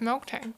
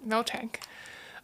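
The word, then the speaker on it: Miltank: a one one of milk tank mil tank uh I have to I'm having like the hardest time not pronouncing a k after the mil and milk tank you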